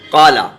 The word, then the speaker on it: قال: آپ دھیان رکھیں کہ قاف جو ہے حروف مستعلیہ ہے، منہ بھر کے پڑھا جاتا ہے۔ اب ہم قالا ہی کو لے رہے ہیں، قالا کی ہجے کیسے ہوں گی؟ تو یہ دیکھیے، قاف، قاف الف زبر قا، قاف الف زبر قا، لام زبر لا، تو یہ پڑھا جائے قال، قال، اسے تو کھینچا جائے گا کیونکہ یہ حرف مد